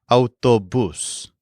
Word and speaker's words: autobús: The word for bus is autobús. So basically, it's the word for car plus bus. But it also has an accent on the U.